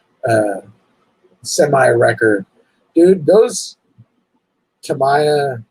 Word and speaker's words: Tamiya: mine right now is the cameo uh or tamaya i said it wrong again to me it's a tammy to my uh semi record dude those tamiya like king holler grand holler all those freaking